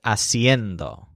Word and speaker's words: haciendo: hacer instead of ser in both cases the stresses on end siendo and haciendo for example to say